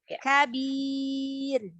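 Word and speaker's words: كبير: Kalau tipis, kalau tebal dia lidahnya diangkat, rahangnya diangkat ya.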